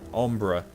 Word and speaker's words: Umbra: how did she pronounce it? Like Ember, but Umbra.